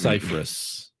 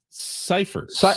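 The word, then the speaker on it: Scifres: it's actually pronounced Cyphers, not Cyphers. I was going to ask you, isn't it Cypress?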